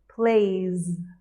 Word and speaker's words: plays: And plays has more of a Z sound, like a Z, plays.